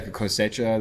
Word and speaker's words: Cosecha: Yeah, Cosecha, the 149 or the 151?